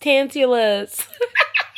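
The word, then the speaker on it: Tantalus: It's pronounced tantulus.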